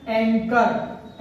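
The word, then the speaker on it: anchor: इसको पढ़ रहे हैं हम एंकर, एंकर क का उच्चारण आ रहा है CH में, एंकर, ये भी एक यूनानी या इटालियन वर्ड है।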